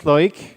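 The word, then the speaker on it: Loïc: So I said my name is Loic. If you're wondering what are those two dots on the I, in French, it's supposed to force you to pronounce the I.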